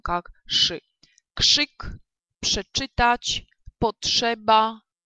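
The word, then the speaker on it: krzyk: Но есть еще такой момент, когда РЗ будет стоять у нас после глухих, они будут на него влиять, да, и РЗ, соответственно, будет оглушиваться и произноситься как ш. Например, да, вот слово крик прочитаем как кшик, кшик.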